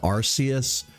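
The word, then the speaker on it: Arceus: archus came for and I've always pronounced it arus but you know recently I guess I've I've started leaning more towards archus because I guess that's the the pronunciation that the localizers have gone with um but yeah I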